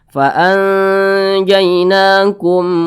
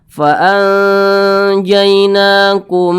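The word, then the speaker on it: فَأَنْجَيْنَاكُمْ: maka namanya izhar syafawi dibaca jelas tidak berdengung faanjainakum wa agqna nah tidak berdengung jangan dipanjangkan jangan dibaca faanjainakum Nah itu salah ya jangan dipanjangkan tapi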